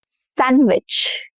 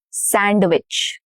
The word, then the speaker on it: sandwich: Sandwich, not sandwich. Sandwich. No duh.